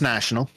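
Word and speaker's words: nasjonale: National literally just pronounced National National yeah it is slightly differently pronounced yes there a slightly different syllable the the second syllable is slightly different but it's literally spelled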